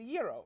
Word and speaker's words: gyro: It's a gyro, man. Gyro.